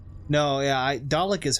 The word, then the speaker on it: Dalek: Some say Dalek, as in Dale of Chippendale. No, yeah, Dalek is how I learned it.